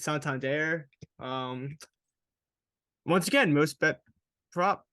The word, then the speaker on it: Santander: So it's Santander.